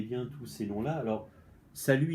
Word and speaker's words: salut: tous ces noms-là, alors, salut, il est à part parce qu'il y a le T hein, qui est muet.